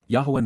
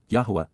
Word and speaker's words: Yahowah: Indeed, because, Yahowah, Yahowah, the proper pronunciation of the name of Eloah, God as directed in